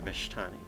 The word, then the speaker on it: Vishtani: And the other one is, in a similar vein, the Vishtani. Again, I didn't realize there was an indicator that that was an SH sound.